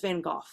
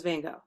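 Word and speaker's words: Van Gogh: say in the episode everyone says vanoff no one says van go they say so now I'm wondering have we all been saying it wrong um so yeah I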